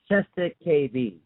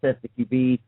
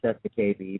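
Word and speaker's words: cestui que vie: It's called cesta-KV. Some people call it cesta-QB. I call it cesta-KV because I think that's the way it's said.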